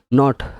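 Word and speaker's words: knot: Knife, এখানে কে সব silent, এটা বুঝতে পারছো? নাইফ মানে ছুরি, নট মানে গিটার, গিট, নট মানে গিট, গিট আমরা যে আঙুলের যে গিটগুলো বলি সেই গিট মানে নট।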